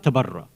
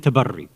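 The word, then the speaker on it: تبري: But through various reasons, which I don't want to go into, usually people, they pronounce both of these ideas, tawalla tabarra, which is incorrect. It's tawalli and tabarri. That's the proper Arabic pronunciation.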